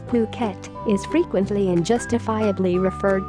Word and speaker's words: Phuket: worldwide the beautiful tropical island of Phuket fortunately pronounced as Phuket is frequently and justifiably